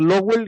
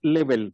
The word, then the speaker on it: Lebel: Le pido disculpas a don Ricardo porque pronuncié mal su apellido, dije Lowell y es Lebel.